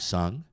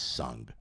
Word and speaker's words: sung: I will have sung. Eu terei cantado. And I would have would have song. Teria cantado. Sung. Sung. Cuidado. Não é song não, porque com o é canção.